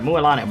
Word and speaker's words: Mualani: Oh, sorry, not Mualina, sorry. Mualani, bleh, I said Mualina, whoops.